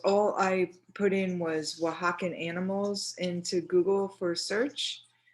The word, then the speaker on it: Oaxacan: for you to see remember oaxacan is spelt kind of weird it's o a x a c a n so it doesn't it's not spelt how it sounds so um you know